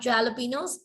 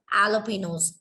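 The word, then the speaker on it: jalapeños: It is not jalapenos, it is jalapenos.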